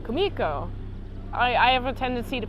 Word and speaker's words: Kumiko: Kumiko, I gotta pronounce her name right. Kumiko.